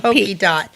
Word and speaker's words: Pokeydot: And I like that it's pokey. Not pokey. Not pa. Not pa. It's spelled pokey. Pokey dot.